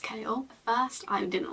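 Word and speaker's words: Chaol: At first, I think he pronounced his name Kale. I always read it Cole, but I'm pretty sure it's pronounced Kale.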